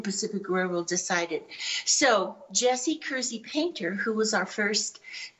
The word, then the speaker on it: Kersey: say Kersey is pronounced Kersey as though it had a Z in it originally it was called